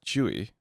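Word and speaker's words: Tzuyu: First of all, it's pronounced Chewy, I think. Chewy? Yeah. Really? I know it looks like it's pronounced Sorry. like spelled. It's like spelled Suyu.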